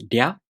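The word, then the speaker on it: りゃ: To pronounce Rya, you first make the tongue position of the D sound. Then the tongue moves into position for the A vowel, Rya.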